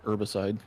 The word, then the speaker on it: herbicide: Pronounce the H, herbicide.